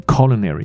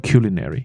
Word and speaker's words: culinary: 这个字，它可以念成 culinary，也可以念成 culinary，都听过。